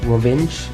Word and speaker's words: Rovinj: So we're in a very small city in Croatia called Rovinj or Rovinjo, depending on how you want to pronounce it.